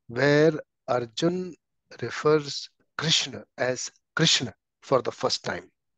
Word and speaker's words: Krishna: This is the verse where Arjun refers Krishna as Krishna for the first time. So this is the proper pronunciation of Krishna.